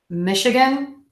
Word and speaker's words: Michigan: Michigan okay so again we have this CH but we're actually going to pronounce it like an SH in this case mich up that short schwa syllable and gun Michigan Michigan Michigan Michigan Michigan